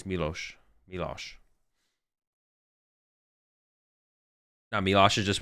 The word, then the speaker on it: Milosh: But he just pronounced it Milosh, and he probably asked him how to pronounce it.